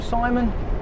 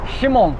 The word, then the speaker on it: Shimon: But you have to remember that we might call him Simon, but his name is actually Shimon. He educated him in the fact that because his name's spelt with a Z, not an S, in the middle.